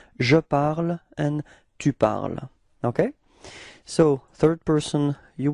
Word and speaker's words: tu parles: parle and tu parles, even if there is a small difference in the writing because you've got this final S for tu, it is the same pronunciation. So it's je parle and tu parles.